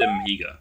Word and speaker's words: Amiga: Mainly, like, sort of Sega and Amiga, which kind of rhymes with, you know, that's probably why they did it.